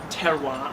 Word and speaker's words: terroir: and I came across this concept of terroir I believe that's how you pronounce it it's t-e-r-r-o-i-r someone who studies French could probably pronounce it better than I could but but